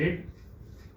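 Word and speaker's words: read: रीड। और रीड का भीतरी क्या होता है? रेड। स्पेलिंग सेम रहता है, आई हैव रेड।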